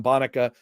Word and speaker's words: Bonica: Data and Democracy with Dr. Adam Bonica, pronounced like Monica, professor of political science, Stanford University.